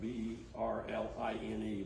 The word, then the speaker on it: Berline: called a custom berlin it's going to be r-l-i-n-e but it's supposed to pronounce in berlin um it's the same